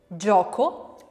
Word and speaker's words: gioco: the palate starts, j, j, voiced, and ch, ch, unvoiced. So can we think of examples of that? J. Gioco. And unvoiced? Cielo. Cielo. Now that's what we were calling in the other video soft G and C.